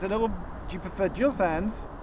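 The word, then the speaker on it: Gill Sans: up in the corner, there's a little, do you prefer Gill Sands? Is it soft G or hard G? Gill, as in Eric. Eric Gill. Gill Sands.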